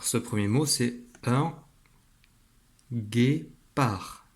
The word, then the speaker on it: guépard: Alors ce premier mot, c'est un guépard. Alors ici, le D est muet. Un guépard.